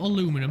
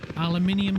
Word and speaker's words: aluminium: Not aluminum. That's the wrong way of pronouncing it. Aluminium scrap in here.